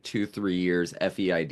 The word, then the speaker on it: Feid: like two three years feid is the pronunciation I don't think we've